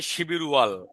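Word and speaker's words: 십일월: না, এমনি তো বানানটা হবে শিবির ওয়াল, এটা পরের ব্যাপার। হ্যাঁ, স্যার 11 নম্বর মাসটাকে শিপ ইল ওয়াল হবে।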